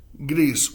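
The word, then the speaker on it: gris: But the word Greece in espanol, it sounds like the word Greece in English. So Greece, whatever works for your sense of memory recall.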